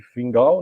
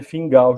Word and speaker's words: Fingal: Aí você, em escocês, a pronúncia fica meio que Fingal, né?